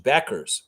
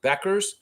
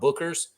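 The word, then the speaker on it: Bueckers: do that yeah Paige Beckers Beckers that's how you pronounce her name just like the old convenience store Beckers okay it's not Bookers all right I didn't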